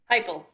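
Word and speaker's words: Heupel: We have Hupel, say? Heipel. Nothing like it's spelled.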